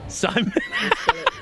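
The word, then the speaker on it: Psymon: or or like or sigh and or Simon Simon they spell it like that p ps y m o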